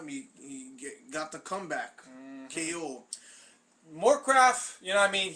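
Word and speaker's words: Morecraft: Stefan Struve against Christian Moorcraft. Rhymes with Warcraft.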